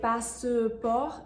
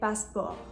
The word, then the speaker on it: passeport: The same thing with passeport. You're not going to say passeport, you're just saying passeport.